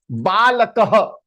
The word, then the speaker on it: बालकः: So half her. So it is kah. How you are pronouncing? Kah. Balakah.